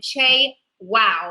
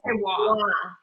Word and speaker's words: Che Wah: So with no further ado, please welcome Spicy Mari and Che Wow, I'm assuming. Che Wah. It's pronounced Che Wah.